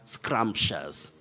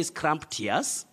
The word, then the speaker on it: scrumptious: that is the word scrumptious scrumptious don't say scrump tears don't say any other